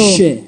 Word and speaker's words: Chicago: Oh, it's a it's a it's a silent se Chicago. Shicago. Chicago. Chicago.